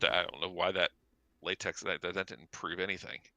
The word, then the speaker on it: LaTeX: but I don't know why that latex that didn't prove anything.